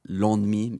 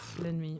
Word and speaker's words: ennemi: Long lin lin long l et euh je pensais que que qu'on disait l'on demi l'ennemi parce que je quand je vois e n en mais non l'enemi l'ennemi.